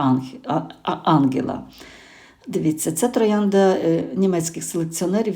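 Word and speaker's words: Angela: Ось наголос, звичайно, на а. По-друге, мене багато чого пов'язує з Іспанією. Знаю, маю друзів, які мають це прекрасне ім'я і чоловіки, і жінки. Також наголос на а.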